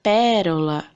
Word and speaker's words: pérola: O que é proparoxítona mesmo? É aquela que a sílaba tônica é a antepenúltima. Então, a sílaba mais forte é a antepenúltima, igual o exemplo deixado aqui. Pérola.